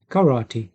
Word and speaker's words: karate: Karate. Тільки не карате, а карати. Пишеться так само. Читається по-іншому.